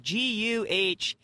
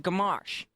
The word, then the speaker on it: Gamache: And they were like, I'd say it's kind of like Guhmarsh. And he was like, what? What do you mean? M-A-R. Like, yeah, it's like Gamache.